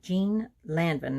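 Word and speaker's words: Jeanne Lanvin: dress and it's by jean landon now that's the american pronunciation the french pronunciation if i don't slaughter it too bad is jean levant jean lavan and it was 1924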